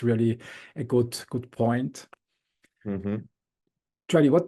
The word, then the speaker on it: Jordi: So it's Jordi, like the English pronunciation.